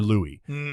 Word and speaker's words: Louis: I didn't know if it was Louis or Louie and so I went to this you know pronunciation guide we've all seen him where it's